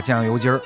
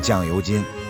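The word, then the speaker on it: 酱油筋儿: 林吃串，绝不能把酱油筋儿读成酱油筋，只有让舌头弹起来，你才能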